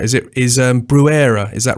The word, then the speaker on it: Bruere: is it is um brewera is that right that's that's close enough um originally in French it was Breer you go back far